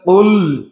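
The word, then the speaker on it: قل: কুল আউযু বিরাব্বিন নাস, এখানে কফ ব্যবহার করা হয়েছে, অর্থাৎ কুল উচ্চারণ করতে হবে।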